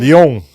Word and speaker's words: Lyon: How do you pronunciate that? Leon France. Lion France. Leon.